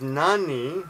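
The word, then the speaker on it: 何: here's a funny thing Nani can be pronounced Nan or Nani depending on the situation sometimes it's even like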